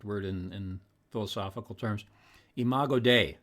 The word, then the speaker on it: imago dei: word in philosophical terms imago dei sorry if i mispronounced that no that's right imago dei made in the image